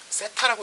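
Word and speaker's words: θ: 그리고 요 중심각의 크기를 요렇게 표시를 하는데 요 표시를 모르는 친구들도 있으니까 세타라고 읽으면 됩니다.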